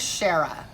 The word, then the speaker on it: Shara: hear this okay so my name is Shara sha RA and it's been burn